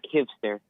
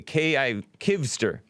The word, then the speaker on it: Kivster: Kivster, am I pronouncing it right? Yeah, Kivster. Okay. Oh, is it K-I-V as in Victor? Yeah, V. Okay, Kivster.